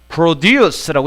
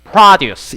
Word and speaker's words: produce: 그런데 여기 웬 동사가 와 있어 그러는데 produce가 produce라고 읽으면 이게 동사로서 생산하다지만 produce 이렇게 읽었을 때는 이게 농산물로 쓰입니다.